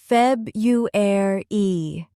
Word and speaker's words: February: Now, February. Repeat slowly. Feb-u-air-e. This is why slowing down is so powerful.